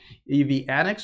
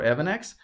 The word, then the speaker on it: EV Annex: So by the way, if you guys haven't noticed yet, this video on the channel is sponsored by EV Annex or Evanex, however you want to pronounce it.